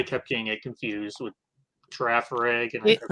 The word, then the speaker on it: Girafarig: also Also, they pronounced the G as a G when G. it should be pronounced with a J.